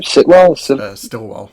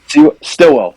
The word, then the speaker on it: Stillwell: And also, what came out of left field was Homelander actually killing How do you pronounce her name? Sitwell? Stillwell.